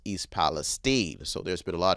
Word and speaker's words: East Palestine: So in Spanish or in French, it would probably be pronounced East Palestine.